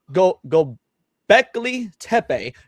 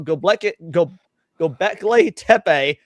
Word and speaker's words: Göbekli Tepe: the discovery of, now just make sure I pronounce this correctly, Göbekli Tepe.